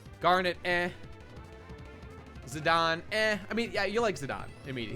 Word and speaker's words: Zidane: ] you um I also used call him zidane uh but like I I played desidia and they call him zidon so that helped me you know I was